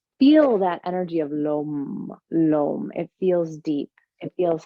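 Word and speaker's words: lam: do is called it's spelled l-a-m but the o sounds sort of like rope so it's and if you can feel that energy of lo lom it feels deep it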